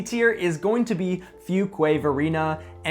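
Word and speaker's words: Fuquay-Varina: Last in C tier is going to be Fugquway Verina. And if you're just pronouncing it for the first time, you might have got it wrong.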